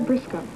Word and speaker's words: Briscoe: I'm Briscoe. Well, you're very cute. Briscoe? Mm-hmm. English, Irish, something. Frisco? Like Briscoe. rhymes with Frisco, huh?